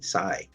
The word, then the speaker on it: Tsai: to say welcome to the show to Amy Sai did I see your name correctly you know